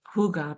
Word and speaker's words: hygge: And I also put in here, think this word Hygge, it's pronounced hygge because it's a Danish word.